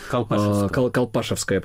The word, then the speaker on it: Колпашевское: все наши слушатели знают историю Колпашевского Яра. Колпашевское, правильное ударение.